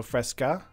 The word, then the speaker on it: fresca: By the way, do you know that the right way to say fresca is doing the emphasis at the end? So fresca.